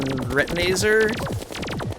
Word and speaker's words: Retinizer: And now we can focus on Retinizer. Rhymes with laser.